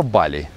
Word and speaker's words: Бали: воле и она продолжается правильно говорить боли либо боли но у балийцев всегда ударение идет на последний слог у индонезийцев на предпоследней да то есть на самом деле правильно и так и так но но больше скажем